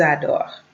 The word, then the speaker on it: adorent: Ils adorent. Elles adorent. Ils adorent. Elles adorent. I don't mind the ENT.